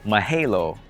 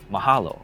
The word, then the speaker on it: mahalo: from the dad and she says mahelo and the dad has to correct her mahalo because language is important